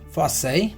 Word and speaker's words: farce: We can see here is farce, but the pronunciation is farce, F-A-S, farce, right?